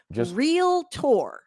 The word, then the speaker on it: realtor: I need everybody to do some phonetics and sound that word out. It is realtor.